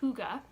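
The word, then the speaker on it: hygge: And the Danish word is pronounced huga.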